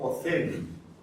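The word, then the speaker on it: אוזן: En hebreo, por ejemplo, la palabra oído, ¿sí?, comienza con la letra Aleph y se dice Ozen.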